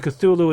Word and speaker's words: Cthulhu: His contemporaries weren't sure how to pronounce it until finally someone wrote to him asking. He said, "You know what? Uh, this was supposed to be just approximation of what the sound what what it's supposed to sound like. It's supposed to be like and Cthulhu is just the closest thing a human can get to pronouncing correctly. That this idea of suddenly